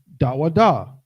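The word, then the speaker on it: דוד: okay King David's name King David's name is dawada in ancient Hebrew da wa that's his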